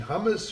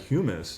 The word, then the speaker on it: humus: And I think when you won your award, you talked about, is it the right pronunciation, hummus or humus, or it was, and you weren't talking about chickpeas.